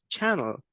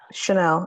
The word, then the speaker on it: Chanel: And we have uh channel. Sorry if I'm getting your name wrong. That's okay. It's uh Chanel.